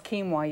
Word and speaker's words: quinoa: salads today yes and you were saying what's quinoa you've never heard of it and it's spelled q i n OA even though it's